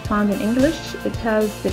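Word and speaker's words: ه: Ha has the pronunciation of He, just like the He in Heart, and it is found with the I key.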